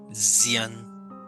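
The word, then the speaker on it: Dzyan: Llamado el libro de Zian, ¿no? Se escribe D-Z-Y-A-N.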